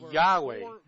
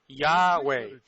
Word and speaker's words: Yahweh: Eu pronuncio o nome Yahweh. José afirma que havia 4 vogais no turbante do sumo sacerdote. Yohei Vavweh são pronunciadas como vogais em um só fôlego. Yahweh, fluentemente Yahweh.